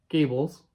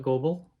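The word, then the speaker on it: Goebel: Egypt and these are Gables some people call it global but it's German so you pronounce the second letter vowel not the first of all and they're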